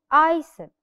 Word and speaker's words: isle: Now, another word, isle. Isle or isle. It's S, we do not pronounce it.